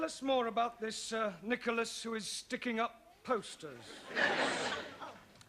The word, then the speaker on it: Nicholas: upon a times there was a man called nickel ass it's not quite right no once upon a time there was a woman called nickel ass it's pronounced Nicholas all right once upon a time there was